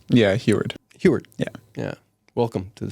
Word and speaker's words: Huard: Did I pronounce that right? Yeah, Huard.